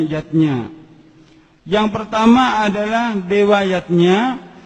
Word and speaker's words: yajna: Zatnya tulisannya yajna, Ayah Bunda, tapi membacanya yatnya.